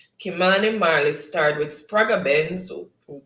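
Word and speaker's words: Kymani Marley: okay all right so who is kymani mali or kimani mali or it's pronounced kimani marli starred with spraga benz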